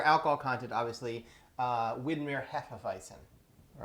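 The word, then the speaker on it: Hefeweizen: heffavicin all right and i know that's not the german way to pronounce a bison but i'm not going to try to pronounce it correctly because i'll do it wrong that's just how we that's how we say it here uh that being said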